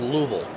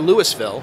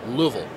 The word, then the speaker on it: Louisville: Oh, it's actually pronounced Louisville. Louisville. Not Louisville, not Louisville, it's Louisville.